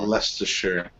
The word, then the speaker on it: Leicestershire: Leicestershire. God, it's so dumb. There's like four letters that aren't pronounced.